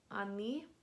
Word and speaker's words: они: And then you have they, which is они. Они. Once again, this O is reduced to an A because of vowel reduction.